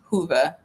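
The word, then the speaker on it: Whova: on there I said wova it's actually Hua I think it's HOA it's w HOV V A but it's pronounced like Hua I always butcher it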